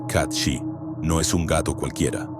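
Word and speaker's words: Cat Sìth: Según la tradición, el cath que se pronuncia kat shi no es un gato cualquiera, es un ser feérico.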